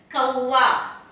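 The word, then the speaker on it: कौआ: the first word here, kawa. Ka with au matra, kau, and I just have the vowel a, so you just say a there. Kawa, kawa. Kawa means a bird, crow.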